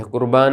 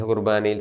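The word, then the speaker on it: ܩܘܪܒܢܐ: ഇനിയും കുർബാനയുടെ സുറിയാനി പേര് കുർബോനോ. പൗരസ്ത്യ സുറിയാനിയുടെ ഉച്ചാരണമാണ് കുർബാന എന്നുള്ളത്. നമ്മുടെ സുറിയാനിയുടെ വെസ്റ്റ് സിറിയക്കിൻ്റെ കൃത്യമായ ഉച്ചാരണം കുർബോനോ എന്നാണ്. പൗരസ്ത്യ സുറിയാനിയുടെ സ്വാധീനം മൂലമാണ് നാം ഇപ്പോഴും കുർബാന എന്ന് പറയുന്നത്. വെസ്റ്റ് സിറിയക് ഉച്ചാരണം കുർബോനോ.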